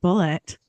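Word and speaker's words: Bulleit: We know that it's pronounced bullet.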